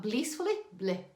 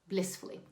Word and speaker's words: blissfully: to little subtleties like the way i say blissfully not bleed not blissfully blissfully short eye okay pay attention to